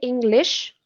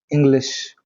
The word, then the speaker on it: English: yeah, So the substitution of the sir sound with the sh sound, yeah. right? So say English. English.